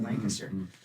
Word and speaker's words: Lancaster: this town called Lancaster, spelled Lancaster, but apparently you pronounce it Lancaster.